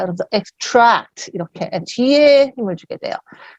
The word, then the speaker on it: extract: extract는요, 사실 발음이 2개입니다. 제가 지금 extract 이렇게 했는데 이건 얘가 동사란 얘기예요. 명사가 되면 extract가 됩니다. 강세가 달라져요. 명사일 때는 앞에 강세가 와요. extract가 되고요. 명사일 때 동사면 뒤에 강세가 갑니다.